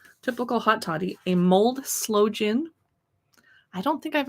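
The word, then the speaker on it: sloe: hot toddy a mold slow gin i don't think i've ever had slow gin before and it's spelled s-l-o-e not like it's slowly hot buttered rum punch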